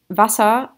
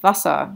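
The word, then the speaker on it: Wasser: wrong today because um vasa ah this is a short vowel sound vasa short ah so because of that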